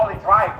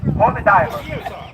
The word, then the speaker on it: Holy Diver: I'm like, is it Holy Diver or Holy Driver? I always get it wrong. Holy Diver.